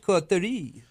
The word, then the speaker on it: coterie: I've always pronounced it Cautery. I know, but it must be in French, Coterie.